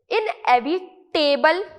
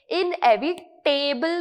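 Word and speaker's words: inevitable: इनएविटेबल नहीं pronounce करना है, क्योंकि बिकॉज यहां पे इनएविटेबल में टेबल लिखा हुआ है, तो बहुत सारे लोग इसे इनएविटेबल प्रोनाउंस करते हैं, जो कि रॉन्ग है। किस तरीके से प्रोनाउंस करना है? इनएविटेबल। किस तरीके से प्रोनाउंस करना है? इनएविटेबल, ठीक है? तो टिबल आपके प्रोनाउंसिएशन में आना चाहिए, ना कि टेबल।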